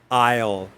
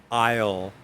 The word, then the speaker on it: aisle: We don't, it sounds like the beginning of like island, aisle, aisle, aisle, aisle seat.